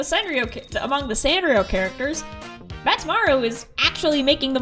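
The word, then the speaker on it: Badtz: Pronounce it like bat, plural. Good evening, bats.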